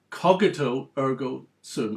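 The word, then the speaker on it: cogito ergo sum: can put aside but this particular aspect of cogito ergo so that's how it should be pronounced if you ever quoting it to a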